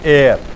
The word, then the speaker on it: heir: हाँ, वो HEIR जो होता है उत्तराधिकारी, एयर, ये इस तरह से प्रोनाउंस होता है।